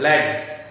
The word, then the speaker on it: lead: लेकिन जब हम इसको पढ़ते हैं लेड, तो इसका मतलब होता है सीसा।